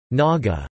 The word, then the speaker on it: Naga: Burmese word naka or Naga meaning people with earrings others suggest it means pierced noses both maka and Naga are pronounced the same way in Burmese the ancient name of